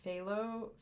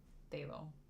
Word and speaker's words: phthalo: how to say this but it's the F phthalo phthalo siine blue I think most people just say phthalo took me forever to learn how to spell